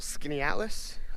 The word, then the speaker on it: Skaneateles: my footing uh beautiful skinny atlas i believe it's how it's pronounced in upstate new york i just got